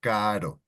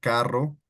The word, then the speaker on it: caro: Caro, expensive. Caro means expensive. So caro, right? No, carro, caro.